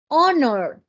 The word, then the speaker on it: honor: de consonante a unit Our sonido de vocal honor mire tiene la pero no tiene sonido la J yo digo honor an honor honor Okay